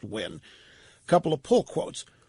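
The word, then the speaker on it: Nguyen: here is Tina when she Vietnamese ng u ye n pronounced win a couple of pull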